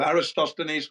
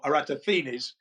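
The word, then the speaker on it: Eratosthenes: So, Aristoines or Aatinis. Two ways to pronounce that. I like the Aatinis because it sounds good.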